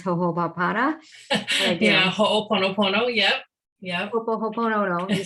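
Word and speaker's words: Hoʻoponopono: And of course, I know all about this word that I can't pronounce, Ho'oponopono. Yeah, Ho'oponopono.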